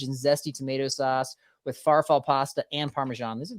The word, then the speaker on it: farfalle: This is Italian sausage and zesty tomato sauce with farfalle pasta and Parmesan. These are the kind of long titles right there. Did you say farfalle pasta? How do you pronounce it? Farfalle. That's way better, but yeah, go with that.